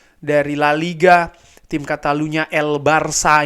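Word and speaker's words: El Barça: La Liga tim katalunya El Barca ini ya Sekali lagi El Barca bukan El Barca El Barca Barcelona ya kan El Barca bacanya itu pastinya mereka juga akan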